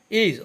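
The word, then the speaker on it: edge: ইজ অর্থ প্রান্ত বা কিনারা, এখানে ডি এর উচ্চারণ হবে না, ইজ অর্থ প্রান্ত বা কিনারা।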